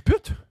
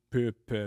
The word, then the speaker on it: pupe: Hey, des fois, je le prononce tout le temps bien dans les écoles. Là, je dis pupe. Parce génial. qu'une fois, je l'ai dit vite, puis il y a un enfant qui a dit quoi, une pute?